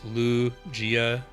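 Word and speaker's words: Lugia: You're not mispronouncing like saying Rayquaza and not Rayqu Rayquaza and not Rayquaza or I guess Lu Gia. The emphasis I think is more on the Lu than the G.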